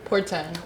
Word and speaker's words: Porten: So today, my artist that I'm bringing to the table with 15 with bug is Ava Portin. Right. Porten. Portin. Port. Portin. How do you spell that?